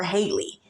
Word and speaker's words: Halle: we call Holly Berry but they call her Haley you know what I'm saying but it's spelled the same and then coincidentally they both